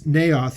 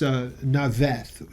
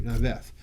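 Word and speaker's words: Naioth: stayed at, it says Naoth here, but it's Naveth is how it would be pronounced in Hebrew, Naveth.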